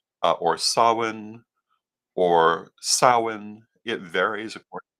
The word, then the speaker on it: Samhain: of course everyone always likes to say that Sam hay is not one of those pronunciations and no it's not um but it